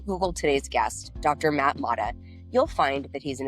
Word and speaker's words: Motta: Matt Motta. Did I pronounce that right?